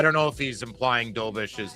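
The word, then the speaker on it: Dobeš: It's I think it's like Yakov Dobish. That's how you pronounce it.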